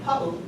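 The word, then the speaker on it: paʻu: But if you add the okina here, pau, it means smudge or like dirty.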